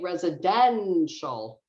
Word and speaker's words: residential: a little bit longer so um in this case if you're having trouble you could say residential not that you want to do it like that but that's the idea residential president eventual and then same thing